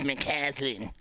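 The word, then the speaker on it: McCauslin: Lakewood L Lakewood Lakewood it's spelled MCC a u LS i n jeez moslin there's a u in it and everyone says it's mlin you don't have to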